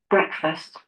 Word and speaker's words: breakfast: طيب ايه رأيكم لو جربناه مثلا ننطقها غلط؟ تمام. آه شايفين الكلمة دي أهو الاسترس هنا على المقطع الأول. breakfast breakfast breakfast breakfast breakfast breakfast breakfast sorry breakfast.